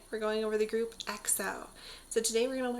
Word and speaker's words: EXO: The group is EXO, EXO, and their fandom is called EXO-L, EXO-L.